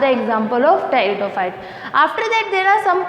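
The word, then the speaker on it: Pteridophyta: इसमें P silent होता है इसलिए हम इसको टेरिडोफाइटा बोलते हैं।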